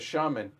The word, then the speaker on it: shaman: By the way, Jess, Frank says shaman. Rhymes with lemon.